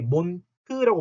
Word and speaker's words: Mond: 반대말로 뭘 얘기 들었었냐면 der Mond 해가지고 자 여기서도 맨 끝에 나오는 d는 t, 몬트라고 말하면 있죠. 몬트 이렇게 자 몬트가 moon이죠.